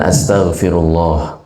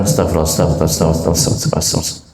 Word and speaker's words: astaghfirullah: Jadi mengucapkan astaghfirullah. Nah, ini harus benar bacanya. Panjang pendeknya diperhatikan. Astaghfirullah. Lafzul jalalahnya panjang. Astaghfirullah. Kalau disambung juga harus benar. Astaghfirullah. Astaghfirullah. Jangan astagfirullah.